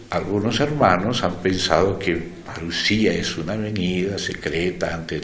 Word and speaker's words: parusía: señal habrá de tu parusia? O parusía, si lo vamos a decir en griego, pero ya existe en español la palabra parusia, así que permítanme ponerle el acento en castellano.